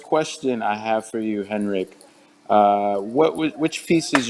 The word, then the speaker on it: Henrik: pronounce that correctly uh normally you would say henrik but uh heinrich is german it's also fine rick vibsco all right